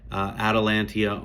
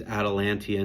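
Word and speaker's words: Atalanta: Atalantia, almost spelled like Atlanta. Lots of people call them that.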